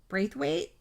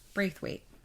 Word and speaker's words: Braithwaite: to say this name breathe weight oh okay breathe weight it sounds like birth weight and they even